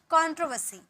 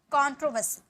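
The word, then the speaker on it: controversy: यूज किया गया है, इसलिए यहाँ आर साइलेंट है और यहाँ का वर्ड का उच्चारण करेंगे कंट्रोवर्सी, कंट्रोवर्सी, ओके।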